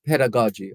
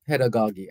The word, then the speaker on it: pedagogy: the greatest form of pedagogy or pedagogy either pronunciation is accepted and so we we